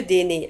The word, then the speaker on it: dîner: Le dîner. العشاء هو le dîner. Le dîner. لاحظوا على أن dîner تنتهي بR ولا تنطق. لا نقول dîner.